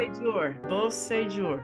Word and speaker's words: Beausejour: Beau, Say, and then like jour, like, Jour. you know, soup du jour. Beausejour. Yeah, you got it. I mean, you could say Beausejour too, and I'd be fine with that.